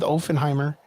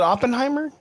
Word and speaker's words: Oppenheimer: pronounced it correctly yeah there's no F's in there though yeah I keep thinking